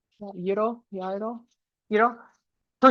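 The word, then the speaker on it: gyro: There's a Greek booth selling euro, that's how you pronounce it, euro. Euro yo euro for $6 and Vietnamese food are selling egg rolls for $2.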